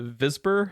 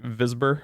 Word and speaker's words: Wisborg: uh it's like uh visper it's like it looks like wisborg but it's like because of the pronunciation it's like visur I think is what they call it if I'm ever in